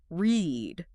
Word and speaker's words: read: It sounds like the color.